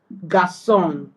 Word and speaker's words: garçon: Okay, so it is just used to soften C to give it an S sound. Garçon instead of garçon.